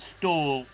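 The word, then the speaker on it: Ståhl: Daniel Stal. It is indeed one of the great throwers of the modern era. It's spelled style. You pronounce it stall just in case you're uh wondering.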